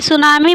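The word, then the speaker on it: tsunami: संग्रहालय गुजरात में है की सुनामी में 30 साइलेंट होता है और सुनामी का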